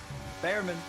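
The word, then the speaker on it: Bearman: Behrman. You know it's pronounced Beerman, don't you?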